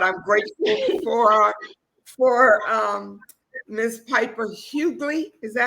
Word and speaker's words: Huguley: I apologize for technical difficulties from earlier, but I'm grateful for Miss Piper Huguley. Is that how you pronounce it?